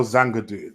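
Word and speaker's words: Zagadou: Dan Axel Zangadoo. There you go. Jordan's got the pronunciation on point as well.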